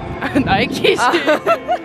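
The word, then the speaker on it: Nike: 사기당함 나이크야 나이키야? 솔직하게 말하자면 심플하게 가시죠 나이크 진짜? 나이키 아니야? 나이키지~~~ 장난이여써ㅓㅓㅓ 아니야 나이크라고 부르는 사람들도있어 도대체 누가 나이크라고 불러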